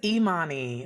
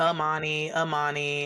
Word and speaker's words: Imani: So because it's Imani, but a lot of people call me Mhm. Amani, I'm Annie.